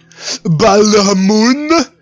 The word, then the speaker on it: Balhamun: You have to pronounce it like that because otherwise it doesn't work. Balhamun.